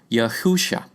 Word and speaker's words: Yahusha: By the way, we call Messiah by his Hebrew name in this video, Yahusha, pronounced phonetically rather than Jesus, which is a transliteration 3 times removed.